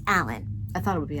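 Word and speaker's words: Alleyn: the Y is silent. Yeah. Because she says it's pronounced Alan.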